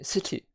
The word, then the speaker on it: city: just something how I feel but yeah okay city city British English City so make sure you come situ pronounced pity pity and but with Americans and